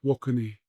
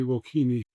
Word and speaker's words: Wokini: Sparks first called Wokini pronounced wokeni but English pronunciation they would say wokini seeking a new image